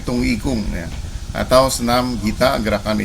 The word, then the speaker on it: Dong Yi Gong: Nah, ini dengan gerakan senam tung ikung ya, dibacanya tung ikung ya, atau senam gita gerakan isyarat tangan.